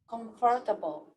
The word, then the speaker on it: comfortable: do is like uh we pay attention to the first syllable conf so the intonation goes here conf so i don't need